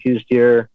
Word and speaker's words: Coues: is january um again both mule deer and koostier uh technically pronounced cows here but a lot of the arizona residents